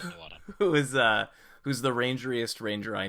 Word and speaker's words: Nuadjha: Nuada. The Nuadjha, JH is silent. Nuada.